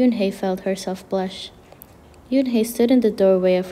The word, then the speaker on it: Unhei: no no and corrected it's spelled u-n-h-e-i it's pronounced yoon hey oh it's you hey